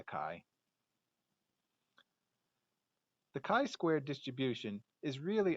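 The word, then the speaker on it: χ: letter a pronunciation is not quite right but for math problems we'll need to stay consistent we'll stick with the chi the chi-squared distribution is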